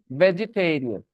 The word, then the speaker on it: vegetarian: लेकिन टेरियन बोलना है तो उसमें वो ई का साउंड है। अब क्या बोलना है? वेजिटेरियन।